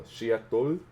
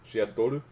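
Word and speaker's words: シアトル: There's a song on here called Seattle, which is awesome, or in Japanese you would pronounce it as Shiatoru. Shiatoru.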